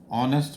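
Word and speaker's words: honest: तो आपका लगेगा एन ऑनेस्ट बॉय। तो एच साइलेंट है इसमें इसलिए ऑनेस्ट बोल रहा है।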